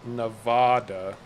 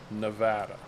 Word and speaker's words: Nevada: let's try that yeah so apparently if you pronounce it nevada um you're not from nevada the proper pronunciation is nevada and they'll immediately know you as an outsider if you say nevada welcome to nevada so you know because we